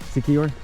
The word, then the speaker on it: Siquijor: Siquijor?